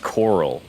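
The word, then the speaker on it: Chorrol: So, as we spoke to that Argonian lady earlier, um this the name of this town is pronounced coral.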